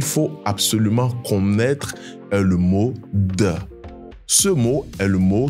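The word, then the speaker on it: 的: absolument est le mot de. Ce mot est le mot qui s'utilise pour formuler la possession. C'est un mot qui se prononce autant neutre.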